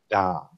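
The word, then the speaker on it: domme: It sounds a lot like dummy. It's actually French for female dom. It's just dom.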